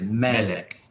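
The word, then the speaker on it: מֶלֶךְ: is this is um it is pronounced with the emphasis on the first part of the word so they give you the little accent mark there that is medic yes king kingdom okay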